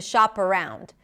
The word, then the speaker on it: shop around: Sha as in father sha the p becomes the beginning of the next word and you know why because the next word starts with a vowel and the phrase is